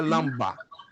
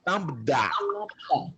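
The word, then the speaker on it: λάμβδα: que falava lamber Não não é lamber não é Lamba nem é lamber nem lambda ó PR aten lambda tem gente que pronuncia Lamba Lamba de LAMB não não não é lambda é igual um árabe falando lambda porque o DB mudo Lambda d e o som é igualzinho da letra l de linho perfeito Aí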